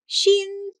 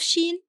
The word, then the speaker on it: شين: And remember to pronounce the sound of Shīn as you draw it. , .